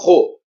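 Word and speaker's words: ῥῶ: Você não vai pronunciar o logo, você vai pronunciar ro, Ro. mais na garganta.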